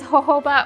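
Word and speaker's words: jojoba: I did look it up. It is Hoba oil, but it is spelled J O J O B A.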